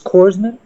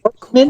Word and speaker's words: corpsman: Remember when Obama mispronounced it's Korsman? He said Korpsman.